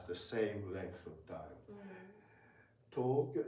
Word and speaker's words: Tokyo: Tokyo even if you say Tokyo may they may understand. Okay we may understand but if you say Tokyo that sounds very different.